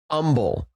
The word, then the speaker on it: Humble: There's a city in Texas called Humble. And if you call it Humble, they're like, "What are you talking about?" Because it's umbble.